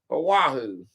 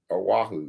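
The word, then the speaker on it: Oahu: Aahu. I still can't say it right after a while, you know. A wahoo. Yeah, that's it.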